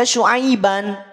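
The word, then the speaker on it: شُعَيْبًا: Asalnya memang dibaca Syu'aiban, tanwin fathahnya jelas.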